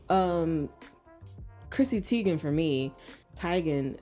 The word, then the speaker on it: Teigen: chrissy teigen for me tygan i believe is how you say her name um didn't know that yeah she was she told everybody that she said tygan just like um it's